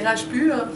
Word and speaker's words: Rajpur: Je ne sais pas comment on le prononce, excusez-moi, mais en français, c'est Rajpur, R-A-J-P-U-R.